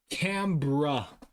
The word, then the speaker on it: Canberra: Oh, Canberra. Canberra. I know it's not spelled like this.